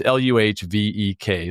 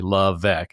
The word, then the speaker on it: LeVesque: And I love by the way, it's LUHVEK, LeVesque. It's phonetically how you pronounce her name, but how is it really spelled, Vanessa?